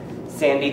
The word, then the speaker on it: Sandy: Sandy, because it rhymes with Andy. Sandy.